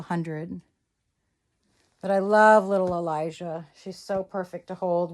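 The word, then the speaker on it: Alijah: And Elijah is spelled A L I J A H. just like Elijah, the boy's name, except instead of an E, it's an A. So, there's Miss Elijah, and I just love her.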